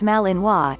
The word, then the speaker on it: Malinois: more about this breed the Belgian Malinois pronounced Malinois is a medium-sized Belgian